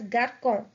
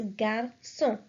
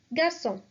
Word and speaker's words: garçon: When this accent is put on C, it changes the sound of C to S. Examples. The first one is garçon, boy. So if we remove this accent from the C, it would be pronounced as garçon, which makes no sense. So this C is mandatory. So the word will be pronounced as garçon, garçon.